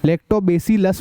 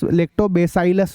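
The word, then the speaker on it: Lactobacillus: लिख रखा है मैंने लेक्टो बेसिलस भी बोल सकते हो या लेक्टो बेसाइड अस भी बोल सकते हो एक ही बात है ठीक है ऐसा सब अलग-अलग तरीके से प्रोनाउंस करते हैं अलग-अलग तरीके से बोलते हैं बैक्टीरिया कॉल्ड लैक्टोबैसिलस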